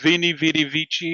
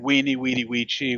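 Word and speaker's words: veni, vidi, vici: And it was the whole, is it Vini Vidi Vici or is it Weenie Weedy Weechi? Well, they say that technically it would have been pronounced as a W, but it doesn't sound as manly as saying Vini, you know.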